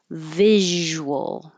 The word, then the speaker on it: visual: wheat weed that's it visual so start with your top teeth on your bottom lip Vis and keep the air flow going and keep your voice on the entire time because you need good Z vibration for the z sound if not it will turn into the sh visual so more voicing